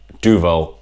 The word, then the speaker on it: Duvel: Duvel is how I'm going to pronounce the name of the beer. I'm sorry if you've got Duvel or something else. Duvel, all right?